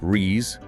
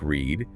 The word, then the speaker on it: read: The base is rees, like read. The past and participle are read, like the color red. So I read every day, base, but I have read that book. Participle, sounds like red.